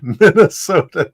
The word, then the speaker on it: Minnesota: no they they they they actually pronounced the T like a t min oh and I'm